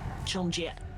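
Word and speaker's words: 春节: So the pronunciation for that in Mandarin would be Chongjie. Chongjie. Zhongzetian? Or I cannot. Yeah. Chongjie. Yeah, Chongjie. Technically, it's like Chong, so first tone, then Jie.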